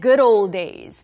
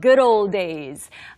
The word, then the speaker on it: good old days: 그냥 good old days. 연음이 되면서 good old days. We often say it that way.